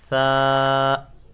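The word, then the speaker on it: ثاء: It is tha. You have to pronounce it without whistle. Tha. Touch your tongue with your upper teeth.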